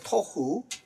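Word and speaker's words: תֹהוּ: 여기 이 혼돈이란 단어가 토후라고 발음하는데 토후.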